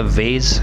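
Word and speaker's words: vase: उसके बाद है वेज, या हम इसे वाज भी प्रोनाउंस कर सकते हैं।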